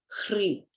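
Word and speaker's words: Hrih: On top of the moon disk appears the syllable Hri.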